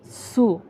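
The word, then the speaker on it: つ: তা চি সু এটা হবে এরকম এটাকে এটার উচ্চারণ হবে সু প্রথমে খন্ডত এরপর সু তাছি সু এরপর তে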